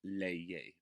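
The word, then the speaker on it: leer: a bit strange but it's pronounced layer because we pronounce every letter in spanish individually number three my brothers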